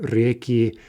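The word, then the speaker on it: реки: So let's look at reka, right, two-syllable feminine. In the plural, the stress jumps back. We get reki, and we keep that stress throughout the plural.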